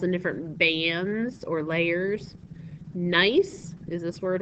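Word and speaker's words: gneiss: got different minerals and different bands or layers nice is a this word right here that's the way you pronounce it nice nice is nicely banded is the way to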